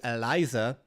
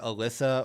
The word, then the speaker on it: Eliza: Uh big shout out to Eliza. Uh do you guys know that her name is Eliza? A lot of people call her Alyssa or they're not sure how it's pronounced.